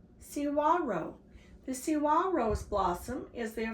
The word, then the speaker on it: saguaro: Saguaro is a Spanish word and it's pronounced Cihuaro. Cihuaro.